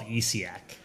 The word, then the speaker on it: Essiac: It's called ECAC. The ECAC tea, and there was that study for it, but... Yeah, it's spelled ESSIAC.